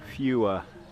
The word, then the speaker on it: Phewa: This is the famous lake in Nepal, Phewa Lake, P-H-E-W-A, sometimes spelt with an F when these guys spell it.